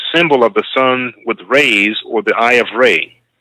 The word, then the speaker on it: Re: emit beams from radius, ray, from whence they get the word ray, as in sun rays. This was taken from Re, R-E, which is properly pronounced Ray, written in hieratic, which